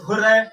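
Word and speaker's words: hurray: ठीक है, for example उसमें आता है हुर्रे, ठीक है, हुर्रे आप इसको प्रोनाउंस कर सकते हैं हुर्रा भी और हुर्रे भी।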